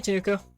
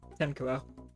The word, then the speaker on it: Tenkuo: Hey, Tenuko. Tenkuo? Tenkuo. That's how you pronounce that.